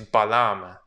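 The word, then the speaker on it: balam: it also means jaguar the pronunciation of the word in mayan is balaam so this glyph is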